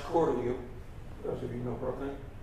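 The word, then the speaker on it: Cortelyou: another one yes this is cellia Road actually pronounced calu those of you know brookly named after jacqu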